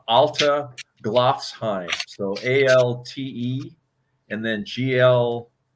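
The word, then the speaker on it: Alteglofsheim: Well, spelling it, I think the pronunciation is Alta Glofsheim.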